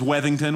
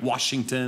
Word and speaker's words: Wethington: My last name is, and my last name is Wethington, which seems easy, Wethington, but I get Washington and Wellington and Liechtenstein.